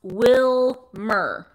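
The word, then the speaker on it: Willmar: It's pronounced Wilmer. Wilmar. Wilmer. It looks like Wilmar, but apparently it's pronounced Wilmer.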